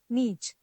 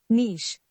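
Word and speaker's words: niche: the next word is यू मे be pronounce it नीच what it actually is नीश नीश नाउ we have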